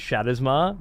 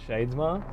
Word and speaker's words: Shadesmar: natural to me that it is shadowar not Shades Mar but every time I